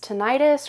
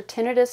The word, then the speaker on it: tinnitus: term for that is tinnitus or tinnitus, however you pronounce that. I've heard it pronounced both ways.